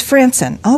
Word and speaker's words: Frandsen: How do I say, is it Frandsen? Frandsen of Delta Business Services. Frandsen, yes. It's Frandsen.